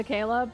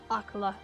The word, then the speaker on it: Akkala: I still can't get over that pronunciation. I'm always going to say Akkala, but Akala.